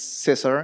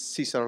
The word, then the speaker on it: Cesar: My name is Cesar. In English, it's Caesar, like Caesar salad, so you can know how to pronounce it.